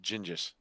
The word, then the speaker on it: Genghis: Of course, everybody in some way is related to the King of England or Genghis Khan. No, it's pronounced Gingis.